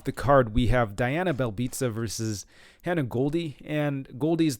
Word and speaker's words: Belbiţă: But taking a look at this matchup, Belbiţă, at least I believe it's pronounced Belbiţă. I've heard it pronounced that way by the commentators, not trying to be pretentious here.